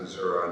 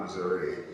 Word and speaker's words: Missouri: That part of the state we pronounce it Missouri, not Missouri.